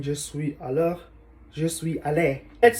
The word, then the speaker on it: allé: What if, let's say, nous sommes allés? It's plural. Let's say they are mixed both boys and girls. So we need to add s, but still the pronunciation is the same.